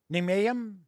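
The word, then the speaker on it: Nijmegen: grade is giving us the uh the correct pronunciation thank you ninayam like i said i i never get it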